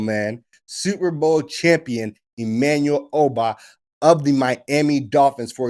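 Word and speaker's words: Ogbah: All right, Emmanuel Obah, which, crazy enough, I'm telling everyone now, you're pronouncing his name wrong the entire time. The G in that situation in Igbo languages is silent.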